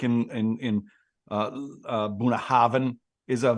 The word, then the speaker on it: Bunnahabhain: It's ALLT-A-BHAINNE, and the BH, like in Bunnahabhain, is a V sound. So I would go Allt-a-Bhainne if I was pronouncing it.